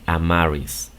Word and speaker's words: Amaris: Am, are, recuerda que la E no se pronuncia, por eso es que solamente se dice are y después is. Si dices esto rápido, am, are, is, vas a resultar con este nombre, Amaris, ¿ok?